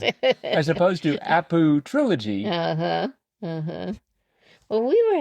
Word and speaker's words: Apu Trilogy: of respect, you look at that and say, Aputriology? Yeah, That that's how I doesn't, pronounced it. as opposed to Apu Trilogy.